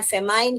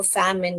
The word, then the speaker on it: famine: फेमाइन करके नहीं पढ़ना, MINE माइन होता है, इसलिए फैमाइन ऐसे नहीं पढ़ने का, फैम इन पढ़ने का।